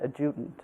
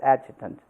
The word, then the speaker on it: adjutant: office told me actually I had mispronounced the word agitant it was I had said adjudant and it's agitant but you see I'm